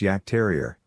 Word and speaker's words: Jagdterrier: the name in fact yogg terrier which is actually pronounced yak terrier means huntmaster these breeders